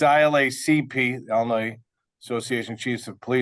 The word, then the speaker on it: ILACP: I said it right, Kenny. ILACP. For everybody out there, I stood in front of the panel about 3 years ago and continue to say ILAPC, even though I practiced it for over an hour